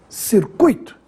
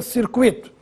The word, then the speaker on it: circuito: errado circuito ou circuito circuito é assim que se fala essa palavra circuito nada de dizer circuito e se escreve sem